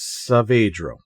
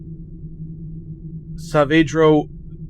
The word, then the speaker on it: Saavedro: I believe the way to pronounce his name is Saavedro. I could be wrong. I could not find an official source on that, but I think Saavedro is okay until somebody tells me otherwise.